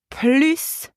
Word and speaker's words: plus: older than him and the word p l s is pronounced plus way you pronounce the final s when plus means more